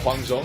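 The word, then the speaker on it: Huang Zhong: new Champion to the server which is uh Guang Jong I believe that's how you say his name yep it is hang zong he's is a one of the Fest ranged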